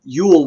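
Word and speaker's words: geol: about the Anglo-Saxon um Yule which is spelled g-e-o-l and the g is actually a y sound so it's it's um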